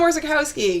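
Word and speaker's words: Orzechowski: last name we didn't know how it was pronounced back then now I know how to say it yeah we know so Tom orzikowski yes we'll be at the Comic-Con on Sunday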